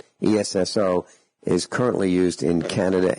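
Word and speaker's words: Esso: o e SS o if you pronounce the word which was made up ESS o it would sound like s o which sounds exactly like a so in Standard Oil s period over it s o and later on in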